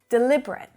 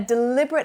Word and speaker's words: deliberate: the previous word right as an adjective we say deliberate meaning that an action was fully intended or it was carefully considered it wasn't done by accident he made a deliberate attempt to embarrass me in front of my boss now as a verb the pronunciation changes to deliberate so we've got four syllables the second is the strongest and the fourth is also strong deliberate deliberate so to deliberate is to